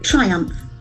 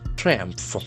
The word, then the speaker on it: triumph: Triumph. Triumph. There are two syllables and the accent falls on the first syllable.